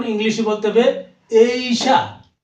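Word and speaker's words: Asia: এস আই এশিয়া আমরা বলি এশিয়া আর সঠিক উচ্চারণ ইংলিশে বলতে হবে এইশা এইশা এরপরে আছে এ ইজ মানে বয়স আমরা এইচ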